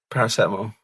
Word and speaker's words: paracetamol: You keep pronouncing stuff wrong. You've just said paracetamol is paracetamol. Steve, what's the definitive on this, please? Paracetamol. Thank you, Steve. You've answered that correctly.